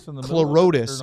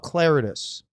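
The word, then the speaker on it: Clarotus: Clotus? the I thought it was Clorotus, and he said he He calls himself Claritus.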